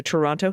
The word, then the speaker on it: Toronto: She was a rescue farm stray that found her way to the Toronto Humane Society. Sorry, Toronto Humane Society. I always pronounce that T and I always get emails for it.